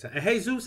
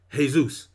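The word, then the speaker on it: Jesús: is a Hispanic name j esus is a Hispanic name and just like Jos E is pronounced Jose that name is pronounced hey Zeus I got a Hispanic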